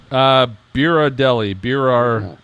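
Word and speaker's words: Berardelli: Biradelli. B-E-R-A-R. See, Deli. Dina, it's like Ghirardelli. Like Ghirardelli.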